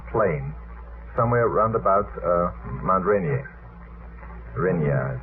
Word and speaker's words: Rainier: for a downed plane somewhere round about Mount Rainier. Rainier. How do you pronounce that in America? Rainier.